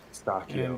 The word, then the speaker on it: pistachio: The ch is hard. It's hard, apparently. Pistachio.